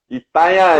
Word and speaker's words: Itanhaém: Conexão em BR, Rio Grande do Sul e Itanhaém, São Paulo. Itanhaém. Pronunciei certo, João? Itanhaém, Pronunciei é isso certo?